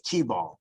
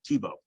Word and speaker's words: Thiebaut: Remember that it's T-ball. Thiebaut. Okay. Yeah, Thiebaut, like the football player.